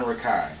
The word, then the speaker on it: Rakei: Jordan Rakai is like neo soul, R&B. He's a multi-instrumentalist. His tone is incredible. His music is so soothing. Like, just listening to him sing is amazing. Jordan Rakei. Rakei is spelled R-A-K-E-I.